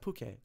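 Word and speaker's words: Phuket: office just me and buddy just they're above pookay thai press spelled phu SI k space IT okay yeah we had a lot of fun or order any food is this tie it's pronounced bouquet okay okay whatever you know so uh but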